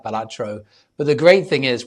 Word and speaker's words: Balatro: And when it's called out in the nominees list, they'll either say Balatro or Baltatro or another variant. And he always tweets it's pronounced Balatro and it's always the same tweet.